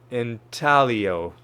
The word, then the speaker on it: intaglio: I had a feeling that the G was going to be silent. Intaglio.